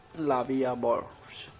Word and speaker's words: La Vie en Rose: La Vie en Rose, literally life in prank, French pronunciation La Vie à Bourse, French L'amour, is a